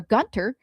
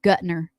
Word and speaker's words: Gutner: after the previous owner, Ira Gunter, no, I said it wrong, Gutner, passed suddenly.